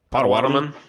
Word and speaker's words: Potawatomi: How the fuck is it pronounced? Potawatomi.